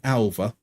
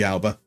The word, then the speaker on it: Alba: can get right, because in Catalan, B's are pronounced as V and V's are pronounced as B, so he'd be Alva. But if he's not Catalan, like Jordi Alba, he would have been Alba.